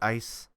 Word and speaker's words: ICE: with data i ice it's it's icy but people pronounce it ice counter intrusion programs and